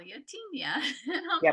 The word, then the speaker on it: Tenya: people say it two different ways can you pronounce the name for us it's Tena Tena okay Tena ien bird yes awesome thank you